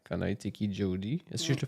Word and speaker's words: Jody: J'aimerais ça qu'on apprenne à connaître c'est qui Jody. Est-ce que je le prononce comme il faut? Jody, oui.